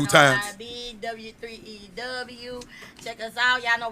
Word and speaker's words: W3EW: WE33W. No, W3EW. Oh, okay. Say it right. It's a W3EW.